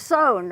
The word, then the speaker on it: Sohn: Close, Sohn. Close, Sohn, okay, because it's an unusual spelling. It's S-O-H-N. Right. And we want to say son or son, but it's Sohn.